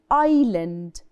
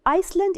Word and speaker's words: island: sides this is called island island and Island we don't say the S the S is silent so it's not Iceland it's I Island Ireland